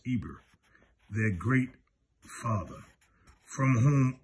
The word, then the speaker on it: Heber: 248 the hebrews are called after heber pronounced eber their great father from